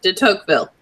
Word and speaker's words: de Tocqueville: Alexis de Tocqueville or something like that. Oh, did I get it right? Yeah, de Tocqueville.